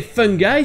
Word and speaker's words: fungi: Et fungi, ça se prononce de la même manière que les deux mots fun guy, un gars marrant, une personne fun.